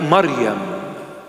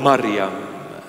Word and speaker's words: Maryam: Or in the proper pronunciation, in Hebrew or Syriac or Aramaic, Maryam. Wow. It's so sweet when I call her Maryam. That's the correct pronunciation of her holy name, Maryam.